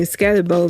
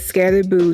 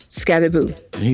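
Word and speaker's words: Skattebo: upset with these commentators pronouncing his name Scatterboo because there's only one O. So then I had to look it up, and Scatterboo said that you pronounce his name as Scatterboo, not Scatterboo.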